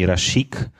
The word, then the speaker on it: Rysiek: call me or if they cannot pronounce R they call me rashik that's um that's a